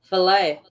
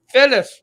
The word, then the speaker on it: fillet: No, it's fillet. It's not called filet. It's called fillet. The stuff It's in a the French roll. word. If it's a French word, you pronounce it in a French way.